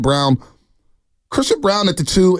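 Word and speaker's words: Braun: I like Christian Brown spell brown but he's they pronounce it brown chrisan brown at the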